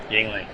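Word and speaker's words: Yuengling: right field at the yangling party pavilion i always struggle to say that word properly how do you say it yingling he's good well he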